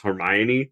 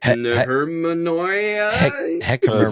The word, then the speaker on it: Hermione: Harry Potter book and trying to pronounce Hermione the first time. Never heard that word before in your life. You're like, Hermanoia? Heroin or something?